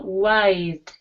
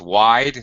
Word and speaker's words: wide: for a second though notice wide um why because it's a long sound yeah um it's see with the E on the end it's not WID it's wide and uh here uh